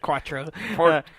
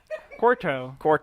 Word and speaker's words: Quarto: I almost said Quattro. Quarto, and then you win, and... You still said it wrong. Quarto. There you go.